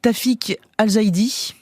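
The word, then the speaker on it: Tawfik Alzaidi: ce soir le film s'appelle Nora le réalisateur tafic alzidi oui prononcé comme il faut voilà récompensé en mai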